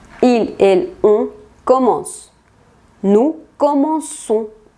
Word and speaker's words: commençons: Aquí se le pone una colita a la C para hacer este sonido S, y esa C se le llama C cédille. Si no le ponemos esta C cédille, sonaría como commencons, lo cual sería incorrecto.